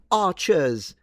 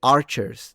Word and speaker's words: archers: the medieval army and they go archers and they're dropping the r, it makes them sound English but in fact inaccurate. They would have said archers. They would have pronounced the r.